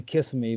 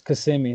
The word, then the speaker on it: Kissimmee: how do you say can always say kiss me but I know that's not right it's cuz see me there we go okay